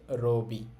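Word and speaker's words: ロビー: এইটা হচ্ছে ওই যে ইংরেজি শব্দ লোবি এইজন্য এটার উচ্চারণও হচ্ছে রবি এরপরে আছে হেইয়া হেইয়া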